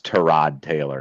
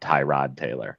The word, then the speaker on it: Tyrod Taylor: And for anyone who doesn't know, it actually is Tyrod Taylor, not Tyrod Taylor. They've been saying it wrong for all these years.